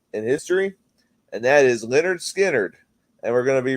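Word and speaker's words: Lynyrd Skynyrd: I was listening to the first half of pronounced Leonard skinnard and when Gimme Three Steps came on like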